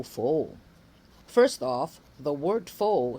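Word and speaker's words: faux: First off, the word fo spelled f a u x. This is pronounced as fo tao fo char. So it reshmes with my name with a long o.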